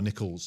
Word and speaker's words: Nichols: Do you know you recharge um like if you can not Charlotte Nichols, but is it nickel or nickels? Nickels. You said it right.